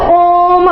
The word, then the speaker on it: ओम: जैसे आपने अक्सर देखा होगा ओम, ठीक है, मतलब क्या है, जब हम ओम को पढ़ेंगे तो ओम ऐसा बोलेंगे, 3 बार इसका उच्चारण होता है।